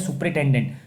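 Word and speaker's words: superintendent: इसको पढ़ते हैं सुपरिटेंडेंट।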